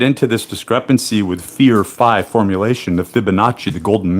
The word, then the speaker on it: phi: when you get into we're going to call it fee right capital phi can be pronounced either way right I per pre prefer to call it fi though because that is how it looks and it has the i in it has a resonant